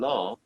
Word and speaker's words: laugh: and laugh Okay. GH sounds like the letter F, you see?